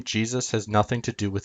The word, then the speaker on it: Jesus: When we pronounce Jesus in English, we pronounce it Jesus, or Jesus, Jesus. Only if you slur the word does it sound like Zeus.